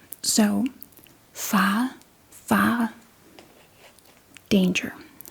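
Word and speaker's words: fare: a a danger a you don't say ar a we say ah A fa danger.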